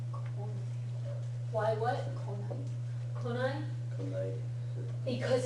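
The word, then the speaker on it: 来ない: If you write it with the nai, then you need to remember to pronounce it konai.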